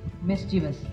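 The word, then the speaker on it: mischievous: world wide today's pronunciation of द डे इज मिसचिवस offer miss pronounce as मिविज number eight is considered extremely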